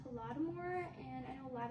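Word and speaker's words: Holodomor: Well, to start the week, we're going to talk about hodore. It's actually pronounced homore.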